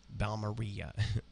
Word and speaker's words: Balmorhea: r h ea uh like Chris Ria balaria balar um and how you